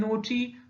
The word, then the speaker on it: knot: Next is KNOT and NOT with pronunciation not.